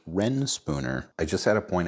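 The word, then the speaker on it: Reyn Spooner: I always thought it was rain spooner cuz it's spelled R E Y N, but it's actually pronounced Ren Spooner.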